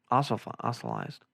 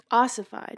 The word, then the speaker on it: ossified: Maybe I said it wrong. Oscillized. Ossified.